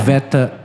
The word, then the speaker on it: Sveta: I think I'm pronouncing her as Sveta. I was going to say SVET. Yeah, you're right. yeah. Sveta.